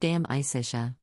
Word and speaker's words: De Amicitia: We finished Livy and De Senectute and are now engaged with De Amicitia, pronounced dam-i-cish-a.